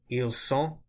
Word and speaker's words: ils sont: Ils sont, I didn't pronounce the T there. So what you really need